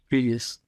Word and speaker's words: Grievous: Grievous.